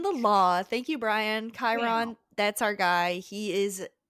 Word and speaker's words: Chiron: this that everybody the person we've been calling Chiron for the past uh now book and into this uh we learned from our friend Brian that it's actually pronounced Chiron because he's more familiar with Greek mythology and Greek things than us.